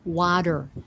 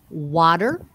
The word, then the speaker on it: water: see water right so a d sound so try that and and and that is the american accent that's just one of oh there are several ways to improve an american accent but that is one of the major ones is not to say city not to say water but you say water city city bottle butter